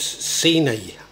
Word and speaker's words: Sinai: song now I think it's pronounced senior year house but it's spelled Sinai house in Burton on Trent Burton